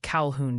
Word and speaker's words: Calhoun: And hey, quick tip from the chat pronunciation police. It's apparently Calhoun, Georgia. Calhoun?